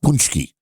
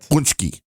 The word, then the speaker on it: pączki: k i oh oh how' you pronounce that punchki paski I've always heard punchki I would say paski but maybe I'm wrong but that's that how I would pronounce that word could be a different